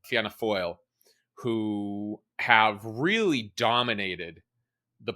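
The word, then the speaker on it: Fianna Fáil: pronounce them different so I'm going with the official RTE that is the national broadcaster of irelands pronunciation so there are two Center rightish parties uh Fina gaale and fana foil who have really dominated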